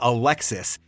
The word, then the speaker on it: Alexi: well not really because in French my name actually just sounds like Alexi despite the S the S is silent and French so that's